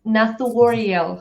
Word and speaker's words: Nathuoriel: So, I'm Nat Wariel. Natu. Yes. It's kind of hard to pronounce, but I think you know a couple of times then you can do it.